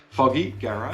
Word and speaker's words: Fogy Garage: pronunciation and it is foggy garage as in foggy and garage and these are handmade